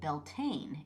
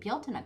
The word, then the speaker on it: Bealtaine: people were pronouncing it belt which uh confused Hey, because um yeah, cuz I knew it was an Irish word.